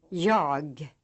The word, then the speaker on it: Jag: Refer to this list as you learn units 1 through 4 to make sure you are pronouncing these words right. Examples: written, Jag.